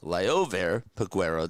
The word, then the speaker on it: Liover Peguero: And Liover Peguero, that's how you say it, is coming on up.